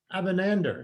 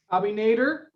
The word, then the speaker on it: Abinader: great presentation um by louise gill abanander is that how you pronounce the last bobby nader okay who's a senior